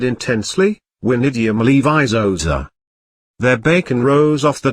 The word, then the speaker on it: Wingardium Leviosa: "Wingardium Leviosa!" he shouted, waving his wand frantically. "You're saying it wrong," Hormone said snobbishly. "It's Wingardium Leviosa, you have to pronounce each syllable distantly."